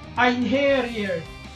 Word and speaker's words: Einherjer: If I recall, the actual pronunciation of this word is Einherjer.